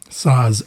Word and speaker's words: Saaz: Saaz, S-A-A-Z. Bon, je te le prononce à la slovaque, pas à la tchèque, évidemment.